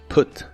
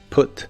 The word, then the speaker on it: put: Se pronuncia con una u corta y explosiva, put, put, y se usa en ideas como can you put the luggage here please?